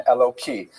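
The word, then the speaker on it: Elokai: And so when you're not pronouncing in the context of prayer, you would say it with a hey instead of a kuf and Eloki.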